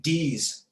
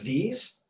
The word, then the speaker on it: these: is perfect with this but saying d's instead of these that's a big one